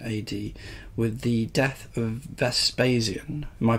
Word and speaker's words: Vespasian: in June 79 ad with the death of Vespasian am i pronouncing that correctly yeah perfect and the accession